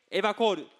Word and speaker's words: EWACHOR: EWACHOR と書いてエバコールと読みます。